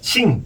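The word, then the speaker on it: 行: 제가 싱, 발음하려면 싱.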